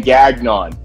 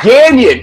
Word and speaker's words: Gagnon: You pronounce my last name Gagnon. It's Gagnon. It's French Canadian.